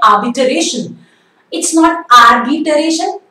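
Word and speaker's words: arbitration: अगला वर्ड है आर्बिटरेशन. इट्स नॉट आर्बिटरेशन, र is silent, it's नॉट आर्बिटरेशन, इट्स आर्बिटरेशन.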